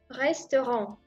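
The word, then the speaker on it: ресторан: C'est un restaurant. R Y S T O R encore une fois A N restaurant. Et encore une fois, je prononce cette lettre O comme A parce que l'accent tombe sur A.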